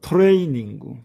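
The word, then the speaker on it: トレーニング: 그런데이 단어는 예의 사항입니다. 예의 사항입니다.이 단어는 예의적인 단어입니다. 왜냐면은 레라는 글자가 에단에 있는 글자이기 때문에 장음은 에가 와야 됩니다. 그렇지만이 이곳에서는 장음으로서이가 와 있습니다. 그래서 토레 이닝구라고 읽는 것입니다.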